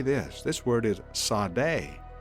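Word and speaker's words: צדי: This word is Sadeh. Sadeh.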